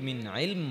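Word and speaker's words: مِنْ عِلْمٍ: মিন ইলম, সুন্দর না?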